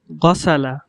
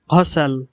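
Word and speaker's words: غسل: এরপর গসালা, গসালা, বিশুদ্ধ আরবি ভাষায় গসালা, গসালা। এর অর্থ হলো সে ধৌত করল। আর আঞ্চলিক আরবি ভাষায় এর উচ্চারণ হবে ঘসাল, ঘসাল, ঘসাল। এখানে গয়িনকে ঘর মতো উচ্চারণ করা হয়েছে, যেমন ঘসাল, ঘসাল মানে সে ধৌত করল।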